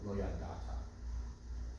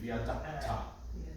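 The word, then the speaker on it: לא ידעת: But the ayin is silent entirely because it's a silent letter with a silent vowel. So lo yadata.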